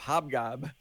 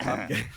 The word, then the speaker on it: Hobgen: And my co-caster here said, well, it's really hard to mess up Hobgob. And I was like, it's Hobgen.